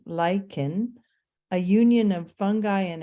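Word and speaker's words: lichen: to reveal bare rock lyans pronounced lyen a union of fungi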